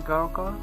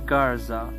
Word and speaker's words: Garza: What's your last name again, Garka? Takhalas this so Garka? David, actually it's Garza.